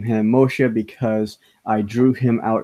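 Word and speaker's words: משה: you have things like Moshe, which is actually how you are supposed to pronounce it in Hebrew, is Moshe.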